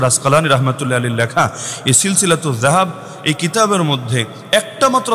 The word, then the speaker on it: সিলসিলাতুজ যাহাব: আমি শুনিয়ে দিচ্ছি, বইয়ের নামের অংশ হিসাবেই লেখা আছে সিলসিলাতুজ যাহাব। আপনার মতো জাহাব না, সিলসিলাতুজ জাহাব না, এটা তো উচ্চারণটাও শুদ্ধ করে করা যায়।